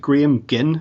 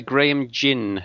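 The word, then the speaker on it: Graham Gynn: book um which you've co-authored with is it gam gin am I pronouncing that correctly uh gram Jinn Jin okay uh the book's entitled return to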